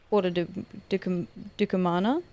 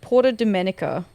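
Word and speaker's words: Porta Decumana: Uh I've done my weekly Porter Dukamana. I've been calling that Porto Dominica. Where the did I get that pronunciation from?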